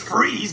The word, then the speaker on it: Fries: freeze for god's sake it's freeze but you spell it fries like french fries weird it's german well i ain't changing